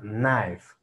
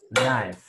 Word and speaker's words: knife: Un cuchillo, como tal, se pronuncia knife. Knife, ¿vale?